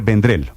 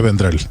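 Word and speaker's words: Vendrell: la versión catalana Xavier vendrel Ese es su aunque esa elle del final de vendrel tiene una pronunciación catalana que yo no alcanzo y desde luego sin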